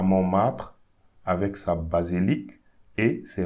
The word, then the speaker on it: Montmartre: So don't pronounce this T here. So we say Mont, and we don't pronounce the E here. Martre. Montmartre.